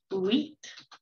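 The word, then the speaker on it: huit: fairly similar you got wheat that's what i love about this word is it's pronounced wheat in french diese is 10 and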